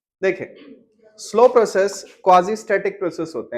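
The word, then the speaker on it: quasi: क्वाजी static proper pronunciation तो ये है क्वाजी मियां बीवी राजी तो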